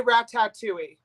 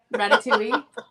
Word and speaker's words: Ratatouille: all the time Isaac I say rat tattooi oh yep Ratatouille yeah so he reminds